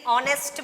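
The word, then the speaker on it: honest: है इसमें जो है यह साइलेंट है तो इसे हम हो नष्ट नहीं ऑनेस्ट में पढेंगे तो इसके आगे एन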